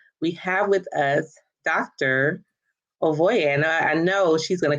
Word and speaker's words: Ovueraye: So it is Ovueraye. Ovueraye. The E is the phonetic E, as in A, and A is A, ra, and ye.